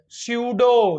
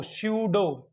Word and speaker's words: pseudo: है this KD एस इस नॉन आज पी सुडो सुडो क्या ये भाई स्पेलिंग शूट होगी क है एस ए यू